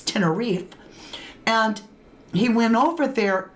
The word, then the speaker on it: Tenerife: I was like, Tenerife, right? Now I know it's Tenerife.